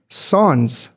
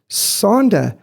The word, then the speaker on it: Sander: ladies, I said, "Hi, my name's Sans," because that's how you say it in South Africa. And she looked at me and go, "What?" I said, "Sander." She went, "Huh?" I said, "Sands."